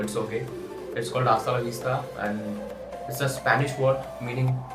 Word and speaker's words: hasta: हाताला विस्ता च एच च is kind of silent you can call so it's okay it's called आस्ता एंड it's Spanish word meaning bye या ऑफ